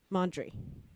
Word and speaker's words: Mondry: Nathan, I'm not going to say your last name wrong, Mondry.